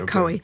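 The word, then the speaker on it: Coie: Um, is that how you pronounce it? Co. Yeah. Coey.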